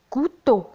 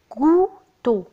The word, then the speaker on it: couteau: un couteau. انتبهوا إلى طريقة النطق. couteau couteau un couteau.